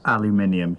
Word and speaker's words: aluminium: it's a loop it's not real and it's pronounced aluminium you're all right i want you to let